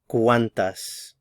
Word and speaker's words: cuántas: The stress is on the first syllable, cuán. ¿Cuántos? ¿Cuántas?